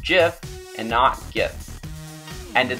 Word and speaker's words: GIF: and that's the world that it should be pronounced jiff and knocked gifts and in this settle the